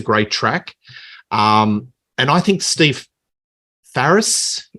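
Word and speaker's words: Steve Farris: And I think Steve Ferris, that's how you pronounce it, he's got the best lead break off the whole album.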